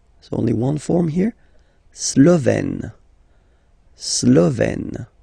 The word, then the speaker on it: Slovène: La Slovénie, so only one form here, Slovène. Slovène. Remember, E accent grave, you open it.